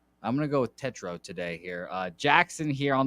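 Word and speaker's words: Tetreault: Freed, one of my favorite lefties on the bump, obviously, versus Jackson Tetro. Apparently, that's how you say it. Tetro. I'm gonna go with Tetro today here.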